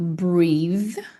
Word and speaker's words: breathe: Esse aqui você pode ver que ele é um th também, mas ele é um th vozeado. V breve. Esse aqui é th sem voz. Sim, existem os dois.